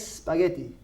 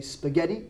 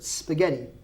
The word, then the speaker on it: spaghetti: make it spaghetti bolognese now in Spanish we say it's spaghetti in English we have no e so we say spaghetti bolognese and you did say correctly okay I'm not correcting you I am correcting everyone out there who says would you like some spaghetti that's not a word spaghetti spaghetti okay so spaghetti bolognaise